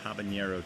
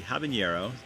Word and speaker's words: habanero: variety of chili pepper when used in english it is sometimes spelled out and pronounced taba and yarrow i'll have a narrow habanero the the diacritical mark being added as a hyperforinism all right let's skip